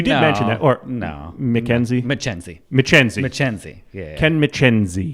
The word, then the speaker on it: Michienzi: the names yeah yeah so Ken michienzi no Mackenzie McKenzie you're still screwed to that I still Ken McKenzie yeah we've gotten all kinds of pronunciations over there my favorite is that's a pretty cheesy